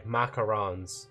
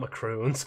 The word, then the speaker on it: macarons: Macarons. Sorry. Macarons. Not macron.